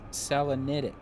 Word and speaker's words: Selenitic: that the rocket ship age is uh they pronounce it selenitic it's one of those words you don't hear